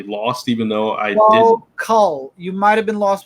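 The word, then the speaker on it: Knull: No, it's K-N. I assume that the K is silent. I call it Null, but okay.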